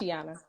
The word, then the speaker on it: Tysheona: I hope I pronounced your first name right because I hate it. Tysheona.